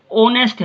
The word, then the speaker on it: honest: जैसे देखो ये है HONEST, होनेस्ट, ओनेस्ट बोलते हैं हम इसको, ओ से शुरू हो रही है आवाज, लेकिन वेयर एज दिस